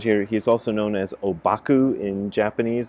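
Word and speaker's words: Ōbaku: he's also known as obaku in japanese that's how the japanese pronounce the chinese characters that spell it his name and last night i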